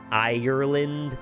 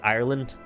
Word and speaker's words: Ireland: say that they say Ireland they just kind of roll over the second syllable so I've definitely tried